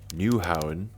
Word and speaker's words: Nyhavn: iconic views of the Nyhavn, which is how it's pronounced in Danish apparently, waterfront district.